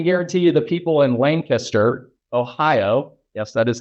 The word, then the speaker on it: Lancaster: I can guarantee you the people in Lancaster, Ohio, yes, that is how you say it, apparently.